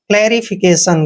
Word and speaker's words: clarification: TION का उच्चारण सन करते हैं। फिकेशन, क्लैरिफिकेशन, क्लैरिफिकेशन का मतलब होता